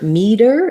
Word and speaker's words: meter: with that and then for meter it has the green tea vowel so i see the